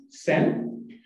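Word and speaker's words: 申: And the reason they choose this name is the right part of this character, like this, is pronounced as Sen.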